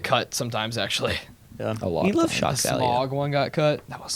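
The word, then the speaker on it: Smaug: a lot smog one got cut.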